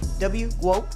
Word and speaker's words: GWOAT: Yeah, it's like GOAT, but GWOAT, yeah.